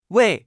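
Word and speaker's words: 位: repita en voz alta se pronuncia con el cuarto tono we es un clasificador numérico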